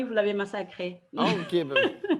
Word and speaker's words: Ndiaye: Ndiaye. On ne dit pas le N. OK. C'est juste Ndiaye.